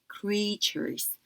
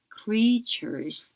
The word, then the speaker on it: creatures: 있는데 이거 할 때 EA가 E의 장모음처럼 나기 때문에 creatures 이렇게 됩니다. 그래서 강세도 이쪽에 와서 creatures 이렇게 발음 나고요.